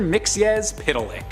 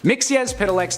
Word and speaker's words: Mxyzptlk: At our top spot on this list is the character I've been looking forward to pronouncing this entire video. It's Mr. Mxyzptlk.